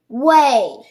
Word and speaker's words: weigh: Our next word is way. Good. My hint is anytime you see EIGH, it says A. What does EIGH say? A.